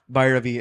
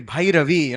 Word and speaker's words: Bhairavi: how I used to speak as a child, Bhairavi. And she'll say Bhairavi, say it properly. Because this has to happen as a child. We were doing it as a joke, and I can say Bhairavi, Shankara Bharanam, Swararaga Sudala.